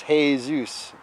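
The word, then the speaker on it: Jesús: You know, because hey Zeus.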